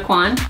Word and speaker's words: Aucoin: Kevin Aucoin. Kevin Aucoin.